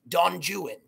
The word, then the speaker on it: Don Juan: that it's actually pronounced don juan right because it right because of the rhyming couplet within the poem but connotation denotation and